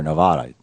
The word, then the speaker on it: Nevada: You're on the air, Nevada. Tell me how to say it, Randy. You're on the air with Senator Sanders. Nevada's right.